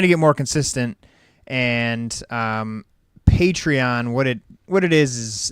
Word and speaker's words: Patreon: Patreon, like patron, I guess. Patreon.